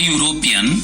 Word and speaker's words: European: Let's look into examples where we use article A before a word. A boy, a woman, a horse, a book. These all starts with a consonant sound.